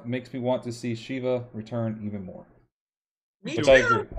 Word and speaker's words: Sheva: Seeing Eva makes me want to see Sheva return even more. Me too. I agree. I think that's a character. Is it Sheva or Sheva? Yeah, I always get Sheva or Sheva. It's Sheva.